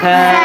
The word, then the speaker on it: ث: সামনের দাঁতের মাথার সঙ্গে লাগাই দেবেন, জিহ্বার আগা। থা থা থা থা।